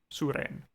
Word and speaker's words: Suren: It's spelled as you say it. Suren.